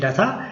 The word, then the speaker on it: re3data: we may have inquiries re3data has put information simply we can look here First including me I was pronouncing it as r-e-3-data Afterwards, it is re-3-data Listen carefully There are